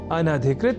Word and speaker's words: अनधिकृत: पर हम जब न या अन और अधिकृत इन दो शब्दों से मिलकर बने अनधिकृत शब्द के अपने संप्रत्यय को दृढ़ कर लें